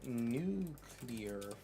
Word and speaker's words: nuclear: All right, so we have Nuclear Fallout. It's pronounced nuclear.